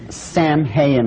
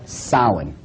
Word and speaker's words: Samhain: Now, when you look at the name, it looks as if it's saying Samhain or something like that. No, no, no, no. This is properly pronounced in the ancient Gaelic as Samhain.